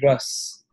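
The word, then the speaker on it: रस: We call that ras. It's written R-A-S-A, but it's pronounced R-U-S. Ras.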